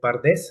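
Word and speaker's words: פרדס: Eh, la palabra hebrea para huerto, ¿sí? Eh, es pardés, así se traduce en en español. Es como un un Bueno, así se escribe como si bueno ya transliterado sería como PRDS. Porque eh ela hebreo este antiguamente no utilizaba eh vocales y al traducirlo pues es pardés.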